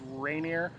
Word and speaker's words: Rainier: mount rainier mount rainier we figured out we were saying it wrong it's rainier national park and we had a